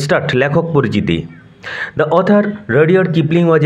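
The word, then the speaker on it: Rudyard: আজকে আমরা পড়ব class 7 lesson 7 Mowgli among the Wolves by রাডিয়ার্ড Kipling. Mowgli among the Wolves by রাডিয়ার্ড Kipling. উচ্চারণ লক্ষ্য করো, রাডিয়ার্ড Kipling, not রুডিয়ার্ড। Mowgli among the Wolves, উলভ থেকে আসছে উলভস, নেকড়ে বাঘেরা, নেকড়ে বাঘেদের মধ্যে মোগলি।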